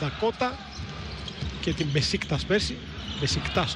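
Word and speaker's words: Beşiktaş: Μπεσίκτας όπως το προφέρουν οι Τούρκοι.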